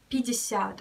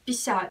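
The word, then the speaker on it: пятьдесят: We spell it like 50, but when you're speaking in Russian fast, you can say 50 or even 50.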